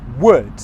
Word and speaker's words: would: It's the same pronunciation as the wood of a tree.